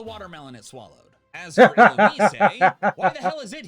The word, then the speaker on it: Illumise: Are y'all just mad that the official pronunciation is Illumise and not Illumise?